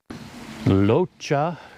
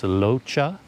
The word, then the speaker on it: Rocha: of my time at locha cafe spelled r-o-c-h-a so it looks like rocha but it's locha something like that yeah really nice place